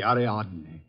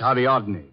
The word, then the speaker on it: Ariadne: good she's practically superb the aradne the what aradne the girl in the Statue oh that's ariadne tragic nymph of Greek mythology don't tell me you're